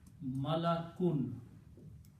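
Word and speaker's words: مَلَكٌ: But if we pronounce the noun this way, malakun. Malakun means angel.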